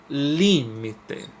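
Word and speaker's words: límite: ter me ele se agora pronunciando a palavra limite limite o Li é a mais forte é a tônica então ela vai ser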